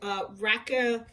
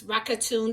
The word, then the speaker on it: Rakuten: Now, as you can see right here in the corner, I have something called Rakuten. I don't know how you say it, and it's Rakuten.